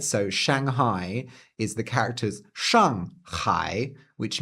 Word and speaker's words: 上海: a port city and in Japanese they say Shanghai which is basically just an adaptation a direct loaning of the pronunciation. But if you really wanted to be funny, you could pronounce it shai or jawai, which would be pronouncing it using the Chinese pronunciations of those characters in Japanese because these are again